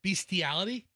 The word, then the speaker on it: bestiality: Actually, best is the first pronunciation. Beast is the second. So, every word is wrong. I I don't I don't say in beastiality.